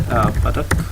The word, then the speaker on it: Baduk: Oh, you pronounce it Baduk.